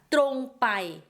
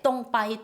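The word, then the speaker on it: ตรงไป: 자 빤뜻이 가다 뚜롱바이 적을 때는 뚜롱이지만 이걸 빨리 발음하면 똥이 돼요. 똥바이 똥바이 뚜롱바이 뚜롱마이 얘기는 직진하고 직진해서 직진해서 가고 직진해서 오다라는 뜻이죠.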